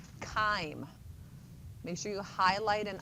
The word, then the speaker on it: chyme: It's called chyme, not chime. That's what the bells do in the church bell-- what's it called, the belfry? Yeah. That's a C-H-I-M-E. This is called chyme, hard c. Like choir is a hard c, but it's C-H. So chyme.